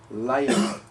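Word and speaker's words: לילה: Night, which is in the Hebrew, layla. Okay, as you can see, it is spelled lamet, yod, lamet, hey.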